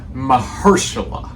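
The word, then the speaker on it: Mahershala: Mahersula, that's his name. Or well, you know his name, but that's how you say it.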